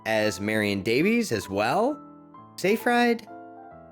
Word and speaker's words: Seyfried: marion davies as well safe ride seyfried i don't know how to say that it's pronounced amanda scifred apparently fincher had to